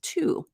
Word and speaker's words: to: this word which technically the pronunciation of the word individually is two it rhymes with the number however with the reduced